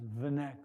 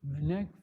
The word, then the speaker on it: Wnek: some trouble, just put W-N-E-K. That's his last name, which is pronounced Vanek or something like that.